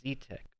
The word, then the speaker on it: Xi: It's pronounced Z, by the way. What did I say? Xi? Xitech? It's Z-Tech. Okay. XI is pronounced Z-E-E.